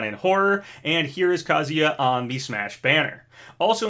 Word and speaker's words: Kazuya: at the sakurai presents i keep calling him kazuya and i'm pretty sure that's the right way to say his name though sometimes i hear people say it with a long oo like banjo and kazuya i don't think it